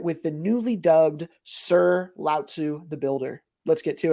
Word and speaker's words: Lao Tzu: Today, I'm going over it with the newly dubbed Sir Lao Tzu the Builder. Let's get to it. All right, today I am joined by Sir Lao Tzu the Builder.